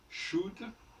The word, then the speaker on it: should: Alors, le OU se prononce à la française, disons-le. Même dans you.